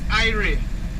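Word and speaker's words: irie: the third one is ire i r i e i re which means that you're happy you're feeling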